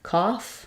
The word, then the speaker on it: cough: sounds for those gh's some words with GH at the end like cough or enough the GH says the f sound in these words it's silent also it's